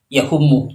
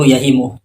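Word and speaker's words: يَهِمُ: Kalau kita lihat videonya Wah yang poin pertama, Wah itu kalau kita perhatikan baca kitabnya itu salah karena dia membaca yahumu, padahal yang benar itu yahimu.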